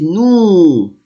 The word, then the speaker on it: nous: I say nous. S, I will not pronounce it.